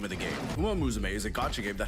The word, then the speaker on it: Uma Musume: How dare he mispronounce it? Didn't he watch the video game awards? It's Uma Musume.